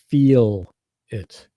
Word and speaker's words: feel: feel yeah you're the the correct way in North American English is to hit that e sound and to stretch it you know so feel it why don't you try